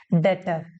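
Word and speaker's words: debtor: मेरे लिए हो गए डेटर बी साइलेंट होता है बस लिखते हैं पढ़ते नहीं है डेटर अब मैंने उनको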